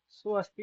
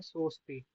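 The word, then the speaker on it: सोऽस्ति: और ये जो अभी आपने बोला ना, सो अस्थि, सो अस्थि नहीं बोलना। अब आपने क्या बोलना है, सोस्ति।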